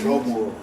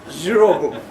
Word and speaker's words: Zvobwo: Okay, only the Russians can pronounce it. It's Zvobwo. Zvobwo.